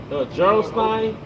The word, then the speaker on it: Gerolstein: Gerolstein.